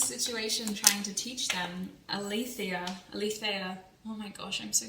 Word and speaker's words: Aletheia: I had a patron reach out to me and tell me how to pronounce that in the Greek way, and she terrible. Aletheia.